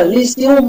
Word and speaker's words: lyceum: Thì ở đây nó là lyceum nhé, lyceum này, cái chữ y dài này đọc là uy.